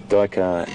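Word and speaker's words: duiker: Dyker is spelled D-U-I-K-E-R. It's a small antelope that dives through the undergrowth in that manner and hides in those little thickets. And Dyker in Afrikaans means diver.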